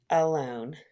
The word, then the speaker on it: alone: And last but not least, we have with that schwa sound, alone.